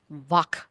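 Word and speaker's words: vāk: V you can see try pronouncing the word v v a v what happens is that your teeth will press down on the lower lips in order for you to say the ter vak vak right um so like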